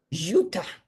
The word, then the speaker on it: Ziuta: Nobody could pronounce it. So, I decided to pick and that's how I became. Ziuta? Ziuta.